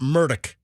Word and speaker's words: Murdaugh: He himself pronounced it Murdoch.